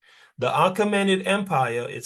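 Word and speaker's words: Achaemenid: Sorry, it it would be pronounced the arcommened empire.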